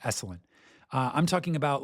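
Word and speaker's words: Esalen: Eselin. Sorry, I mispronounced that. Esselin.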